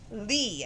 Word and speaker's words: lea: open b now two is lee and it's spelt l e a it's a noun now